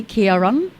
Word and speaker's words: Ciaran: i'll let you go and i did i pronounce your name correctly Kieran Kieran Kieran that Kara Kieran whatever way you